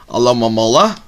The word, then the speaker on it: Alomomola: Alomomola, that's how you say the name, I was saying it wrong the whole time, Mystic Eye Energy, reverse